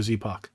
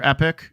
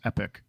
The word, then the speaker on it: Epoch: eat like like regular epic according to Google it's epic Epoch is pronounced epic anyway moving forward sorry